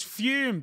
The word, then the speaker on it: Fum: It's Fume. That's spelled F-U-M, but pronounced like there's an E on the end, but the E isn't there.